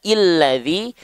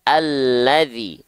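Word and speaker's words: الذي: Sampai sini ya Oke Berarti kita enggak mungkin baca illadzi tak mungkin kita baca ulladzi tapi kita baca alladzi a dengan vokal a ya Oke sip nah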